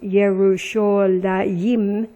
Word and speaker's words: Yerushalayim: Now in nautical miles 3390 from 3389 is the name pronounced Yerushalayim, a dual, in allusion to its 2 main hills.